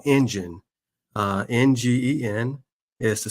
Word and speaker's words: NGEN: I'm the president and CEO of a company called Engine. NGEN is the spelling of our company. It's pronounced like the engine in your car.